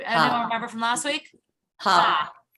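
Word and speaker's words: ה: Ha. Ha, with a hey with a patach, ha. Or if you're writing it phonetically, H-A.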